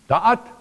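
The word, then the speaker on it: דעת: Da'at, that's a D. All right, da'at, just make sure here, is a dalet, ayen, and a taf. Dalet, ayen, and tough.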